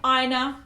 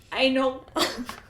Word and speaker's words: Aina: We looked up how to say her name. Aina. Yes. Yeah, not anal.